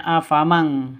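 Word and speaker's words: أفمن: Nun matinya ditambah dengan ng seperti membaca eng gitu ya. Afam sehingga bacanya afamang seperti itu.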